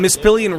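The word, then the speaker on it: Mispillion: on point right now the trick you told me before we started recording is just say it fast it's not miss ailion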